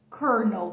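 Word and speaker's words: colonel: Kernel. Tem nada a ver com a escrita, tá? A escrita é coronel. Isso aqui a pronúncia é kernel, marcando o L no final.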